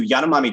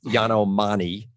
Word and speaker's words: Yanomami: because first of all, the pronunciation, and correct me if I'm wrong, it's Yanomami or Mana, right? So you could, it's different. So in the International Phonetic System, the Yanomami, but the I is usually cross out I or